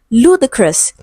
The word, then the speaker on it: ludicrous: Option D we have ludicrous, stressed on the first syllable.